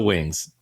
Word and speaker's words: WINGZ: So it is regular, pronounced like with an S, but has a Z, so WINGZ.